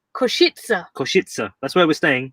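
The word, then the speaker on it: Košice: a bit worried about saying it because it's pronounced kushitsa koshitsa koshitsa that's where we're staying koshitsa yeah say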